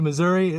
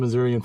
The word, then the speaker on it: Missouri: Thanks for welcoming you to Missouri. Let's go get some Missurian food. How do you call it? Missurian food. Missouri. Missouri. I in there. I don't think anybody would pronounce the I miss.